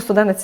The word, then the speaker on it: студенець: дуже рідко вживаржи р і я навіть не знаю чи я правильно наголос поставила студенець ну студенець - це правильно студенець у нас в нас